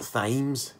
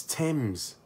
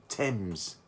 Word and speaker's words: Thames: And it's not Thames, it's Thames. That's how you pronounce it. Thames.